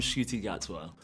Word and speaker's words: Ncuti Gatwa: Faudrait que j'aille voir comment l'acteur lui-même le prononce, c'est la meilleure source. I'm Ncuti Gatwa.